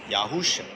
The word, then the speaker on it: Yahusha: It's pronounced Yahusha. In English, Yahusha.